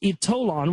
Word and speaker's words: Ytolan: The power of Ytolan, it's pronounced Ytolan, was revealed to me during a spiritual hypnotherapy regression during which I experienced life in Atlantis.